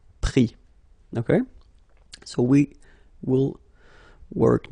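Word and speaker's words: pris: Same thing here, final S not pronounced, so prendre, prix.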